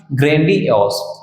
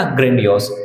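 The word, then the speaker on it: grandiose: इसका प्रोनाउंसिएशन ध्यान रखेंगे भैया, ग्रैंडियोस, है ना, ग्रैंडियोस।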